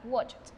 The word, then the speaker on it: watched: Watch, verbo no sonoro, sonido, o sea, sonido no sonoro, pronunciación de la ed como una ta, watched. Ahora vamos a hablar del pasado progresivo.